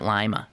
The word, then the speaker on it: Lima: I think they pronounce it Lima, yeah? Like the B.